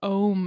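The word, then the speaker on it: Ogham: written language is called ohm i know there's a g in the middle irish language oh my god it's very complicated g and the h is silent together i know it's very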